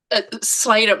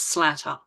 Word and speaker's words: Slatter: My family say Slater because I had a very insistent grandmother who used to walk around telling people it was with the accent on the A, but if you obey the rules of English language with two T's, it's Slatter. But I think we all just go with Slater because we don't want